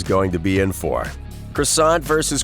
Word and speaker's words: croissant: pronounce it as quackson there's a pretty notable difference between croissant and quackson and apparently holland slipped